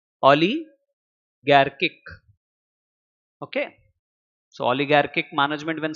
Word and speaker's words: oligarchic: 11th class isn't it how do you pronounce it Ali garkick okay so oligarchic management